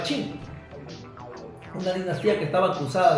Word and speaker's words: Qing: La dinastía colonial se escribe Qing, pero se pronunciaba Qing.